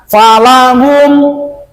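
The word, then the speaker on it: فلهم: Jadi membacanya jangan dilamakan di M-nya nih. Jangan gini falahum salah sebab ke depannya hamjah. Jadi gimana? Putuskan. Falahum. Falahum. Bukan berarti berhenti.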